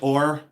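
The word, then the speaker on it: Ohr: Anyways, George Ore.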